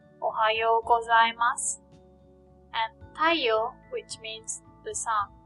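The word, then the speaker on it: たいよう: Notice that Y-O-U, yo, is pronounced like yo, not you. When the O sound is next to the U sound, it is pronounced like O, the long O sound, yo.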